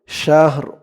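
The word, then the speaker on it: شهر: শাহ র দুই জেরিন শাহর এখানে করার কারণে উচ্চারণ হবে শাহর শাহর সিন দিয়ে হা কেও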